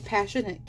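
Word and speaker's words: Passionknit: Passionate, I think it's Passionate Kelsey YouTube. Yes, and that's spelled like passion, but instead of just having an N at the end, it's a K, N-I-T, for passionate.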